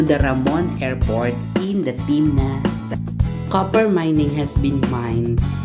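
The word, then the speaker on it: תמנע: climate in the valley pronunciation in hebrew is timna and it's located also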